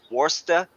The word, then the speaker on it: Worcester: they told me uh to say it worsta yeah um I mean it's spelled War Chester but like they said yeah so you know